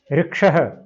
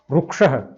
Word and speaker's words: ऋक्षः: ऋ ऋक्षः, भारत के कुछ भागों में से रू भी बोला जाता है। रुक्षः, ऋक्षः, रुक्षः। आप अपनी सुविधा के अनुसार कुछ भी बोल सकते हैं, इससे कोई अंतर नहीं पड़ेगा।